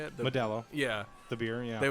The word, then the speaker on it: Modelo: Modelo.